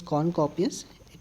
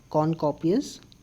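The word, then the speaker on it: cornucopias: me zoom it yes that is corn copies okay it is corn copius you can also pronounce this like corn copies now next one just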